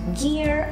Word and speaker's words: gear: É importante fazer esse R bem caipirão mesmo no final, tá bom? Se você quiser uma pronúncia americana, esse R é bem puxado.